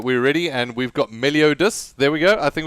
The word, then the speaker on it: Meliodas: Yeah, you guys I was like, have you guys never watched Seven Deadly Sins? Because you were pronouncing it horribly the other night. I heard try going Meliodas. It's Meliodas. There we go.